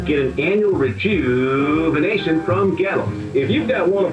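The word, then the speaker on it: Goettl: Gallo. It rhymes with cattle, except it starts with a G and it's spelled really weird. Gallo.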